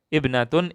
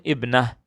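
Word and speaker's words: ابنة: Kalau yang tertutup seperti ini, maka kita bacanya ha kalau berhenti. Ya, saya contohkan. Jaddatun jaddah, syaukatun syaukah, ibnatun ibnah. Nah, tadi tidak ada taknya, sekarang ada taknya.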